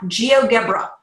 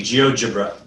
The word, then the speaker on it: GeoGebra: to the online app geogebra did I say that right with his soft G geogebra geogebra geogebra I need to